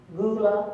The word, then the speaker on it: Gullah: comes from but just remember how it's pronounced gala gula is akin to goulash and people are trying